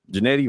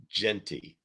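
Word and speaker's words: Jeanty: Jenny, Janetti, I say it right, Lou. Jenny. Janetti. You've never said it right. Okay. I never did. That name is weird. Janetti. Janetti. No. Ashton. Genty.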